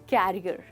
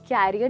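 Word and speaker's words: career: Well, ये है एक बहुत इंपॉर्टेंट चीज़ जिसको लोग अक्सर कह देते हैं कैरियर। दैट्स राइट दोस्तों, इसको हम कैरियर नहीं कहेंगे बट इसको हम कहेंगे करियर।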